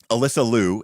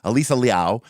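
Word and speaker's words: Alysa Liu: One happened during the Olympics, right, where um Alyssa Louu, actually her name is pronounced Alisa, but and it's Liao, but anyways, Alyssa Louu, as we say here in North America, but um Alisa Liao when she did her, she didn't even know,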